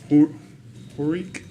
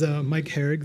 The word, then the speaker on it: Mike Herrig: We'll go to our next presentation by Horik. Sorry about that, sir. Welcome. Thank you. You guys hear all right? Yes, sir. Often mispronounced, so I don't take offense by it. It is Mike Herrig, though.